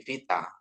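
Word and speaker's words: βήτα: to kuno gitu ya ini beta ini jadi v ya jangan sampai beta lagi gitu ya tapi vita ya Vita ya jadi puno ya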